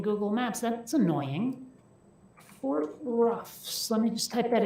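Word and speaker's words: Roughs: Okay, Fort Ruffs, the way it sounds, as in not smooth, just Ruffs. Okay. Yeah, that's not coming up as a thing in Google Maps. That's annoying. Fort Ruffs.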